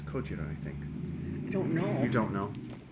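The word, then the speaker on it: ゴジラ: It's It's Cojira, I think. I don't know. You don't know? Have you seen the Godzilla movies? No. Godzilla is an American pronunciation of the Japanese word for Godzilla.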